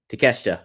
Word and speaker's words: Takeshita: Takeshita.